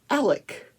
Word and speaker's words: Alex: And Alex, which is spelled A-L-E-X, Alex Murdaugh, is Alec Murdaugh. So if you're from the Low Country, it's Alec Murdaugh.